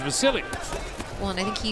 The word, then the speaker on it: Vasiliy: But But he says, and the people around him say his name is Vasiliy.